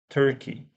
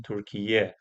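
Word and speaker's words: Türkiye: Because I think now you should be pronouncing Turkiye or Turkiya, maybe Turkiye.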